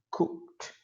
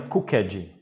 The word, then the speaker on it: cooked: Olha a pronúncia. Cooked. Cooked. Certo? Não é cooked. Não vai, esse ed, ele nunca é forte, ele é sempre fraquinho, tá? Cooked. Tá vendo? Ele sempre cai, ele nunca sobe, né, para ficar uma